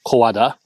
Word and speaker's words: 小和田: The kanji used in the station name are pronounced Kowada, but they can also be pronounced Owada.